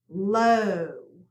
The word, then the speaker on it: low: upside down SWA sound low we do not hear the W here so we cross it out and we have a long o sound score the C has